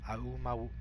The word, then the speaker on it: Aumaua: It's like as if it's Hawaiian. Aumaua.